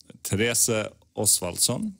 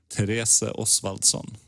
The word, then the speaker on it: Therese Oswaldson: Therese Oswaldson is the correct pronunciation in Swedish. Say that again. Therese Oswaldson.